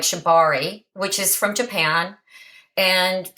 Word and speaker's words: Shibari: And I would love for you to explain better what shibatsu rope tying is. If I said it right, did I say it correctly? Shibari. Shibari. I said shibatsu, didn't I?